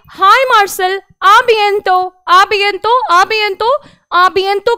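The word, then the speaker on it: à bientôt: आबियंतो, अब यहां पर आबियंतो लिखा है, यहां पर फिर से ये जो है ना अपनी कॉन्वर्सेशन को एंड कर रहे हैं।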